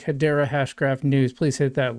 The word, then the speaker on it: Hedera: Uh, first off is Hideera has been chosen for this country's digital dollar.